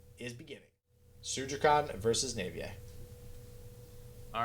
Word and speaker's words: Naivye: going to go nut i think navier was the generally accepted way to pronounce this name so if anybody knows